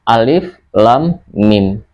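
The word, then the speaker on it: الم: Makanya ketika ada huruf fawatihus suwar yang di dalamnya terdapat unsur gunnah, maka kita wajib membacanya sebagai mad lazim harfi mutsaqqal, yaitu harus diberatkan. Jadi bacanya alif lam mim.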